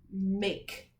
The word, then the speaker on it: make: And then our next word is the word make. This is also a second grade word. M-A-K, make. M-A-K. And then there's a silent E at the end.